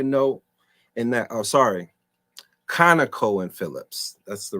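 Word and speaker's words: ConocoPhillips: Conoco and Phillips. That's the right pronunciation.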